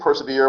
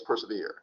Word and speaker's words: persevere: It's meant to rhyme with ever. So we don't have to pronounce this persever. We know what the word is, persevere. And we don't have to mispronounce this to force the rhyme.